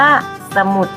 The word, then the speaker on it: สมุด: คำ นี้ นะ คะ ถึง เวลา เรา อ่าน ออก เสียง เรา ก็ จะ อ่าน ออก เสียง อ่ะ พึ่ง เสียง ค่ะ เรา อ่าน คำ นี้ ว่า สมุด ถ้า อ้า เดี๋ยว เรา